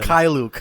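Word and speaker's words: Mykhailiuk: Mikhailuk, huh?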